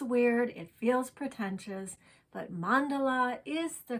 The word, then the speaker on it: mandala: correctly it is weird it feels pretentious but mandala is the correct pronunciation mandala is also an acceptable pronunciation i'm learning and